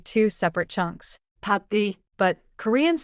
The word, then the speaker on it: 밥을: So, 밥을 is grammar plus pronunciation. Grammar says object marker, pronunciation says link it. Exactly. And in a full sentence, the object chunk stays connected before the verb 밥을 먹어요.